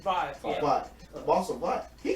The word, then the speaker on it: Vought: The boss of Voss, am I saying it right? Vibe, yeah. Vought.